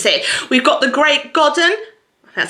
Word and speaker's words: Godden: We've got The Great Godden.